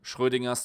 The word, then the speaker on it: Schrödinger: did, which I called Schrödinger's top 5, or if I want to pronounce it German, Schrödinger's top 5, when a